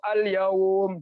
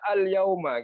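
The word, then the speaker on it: اليوم: masih ada huruf jadi cara bacanya ada baita Alal baik gitu atau alyawm jadi minimnya enggak kita baca ya Jangan dibaca al-yauma gitu kecuali disambung seperti yang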